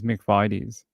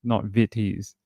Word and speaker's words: McVitie's: The ad on Australian TV for that company is McVitie's with like that kind of an eye, not Vitties.